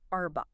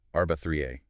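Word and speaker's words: أربعة: It's not arba, is it? No, not a soft bow. You to sort of tighten your throat muscles like a doctor is using a tongue depressor. The word for four is arba 3a. Arba. Arba 3. I can feel that little bit of friction in my throat. Arba 3A. That's it. That's the vibration you want. Arba 3A. It's a very distinct sound.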